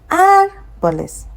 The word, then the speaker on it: árboles: So it's not going to follow the first rule that says that when you see it ending with an S, you put the stress on the last but one. So here we are going to get árboles.